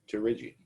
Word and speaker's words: pterygium: It's pronounced pterygium.